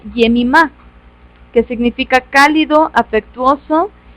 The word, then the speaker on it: Jemima: en español sin embargo es un nombre muy antiguo que en realidad se pronuncia jemima que significa cálido afectuoso